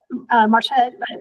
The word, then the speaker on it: Marcia: I'm Marcia. Actually, preferred pronunciation of Marcia.